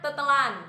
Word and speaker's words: tertelan: Semua kata imbuhan ter dan ber itu dihilangin R-nya. Contohnya tertelan, jadinya tetelan.